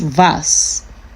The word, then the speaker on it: was: And the W is pronounced V, like V.